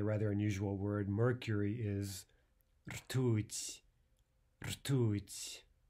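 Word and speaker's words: ртуть: Mercury is rtuť. Rtuť. How many syllables? One syllable only, right? Ooh, only one vowel. That means one syllable.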